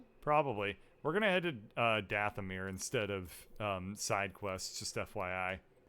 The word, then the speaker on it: Dathomir: ship on zepho probably we're gonna head to Dathomir instead of side-quests just FYI travel to planets I guess we could go to Dathomir the madman kal theory of geopolitical politics only